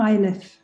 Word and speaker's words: Iliff: I think I probably mispronounced your surname. Could you help us with that? It's ILIFF.